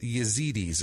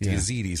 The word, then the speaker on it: Yazidi: Yazidis. That's the pronunciation that I have most heard the most. Yazidis.